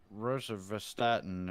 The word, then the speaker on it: rosuvastatin: What is the rosuvastatin, or how do you pronounce that?